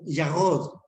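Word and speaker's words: ירוק: El verde significa o se escribe yarod.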